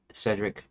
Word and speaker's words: Cedric: Because um I almost pronounce it like seed brick. uh do because of this now in my head Cedric is uncommon compared to the standard pronunciation British American Cedric with a short E as in pet.